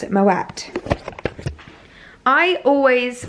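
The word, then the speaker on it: Moët: at the side i know recently that you pronounce it moet i always pronounced it my way because i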